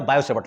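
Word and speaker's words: Biot–Savart: Heading डालो, बायो सेवर्ट लॉ, बायो सेवर्ट लॉ, बायो सेवर्ट का नियम। हिंदी वाले टी साइलेंट रखेंगे, मतलब बायोट मत लिखना, हिंदी वाले बायो ही लिखना।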